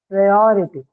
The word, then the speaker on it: priority: or the I suffix, it has to be on the second syllable or, right? So or, and ity, priority. This is how you articulate it.